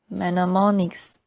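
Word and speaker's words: mnemonics: Manammonics. The initial M is silent are clues of any kind that help us remember something.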